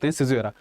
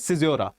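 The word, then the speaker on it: caesura: When we are reading poetry, the natural pause that comes, we call it Sijra. I mistakenly read the whole thing before this. Tha So the correct pronunciation for this word is Sijora Okay now move towards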